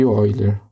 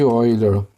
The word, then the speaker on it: Euler: Relação de Euler. É assim que se escreve, ó, e se lê Euler, porque ele foi um matemático suíço.